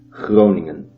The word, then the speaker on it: Groningen: Today, however, the university city of Groningen, pronounced with the typical Dutch G as Groningen, is one of the most secular cities in the Netherlands.